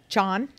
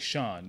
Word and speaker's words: Sean: I have to say John Yeah. in order for it to spell it correctly. Well, Yeah. Yeah. I usually tell people, I'm like, it's like French, like chateau, like Sean.